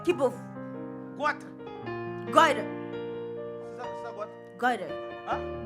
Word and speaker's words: goiter: goiter, C'est ça, goitre. goiter, Hein? goiter, Toi aussi, prononce bien quand même.